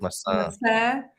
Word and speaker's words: maçã: If you want to say apple, you stress the last A, so you put massa.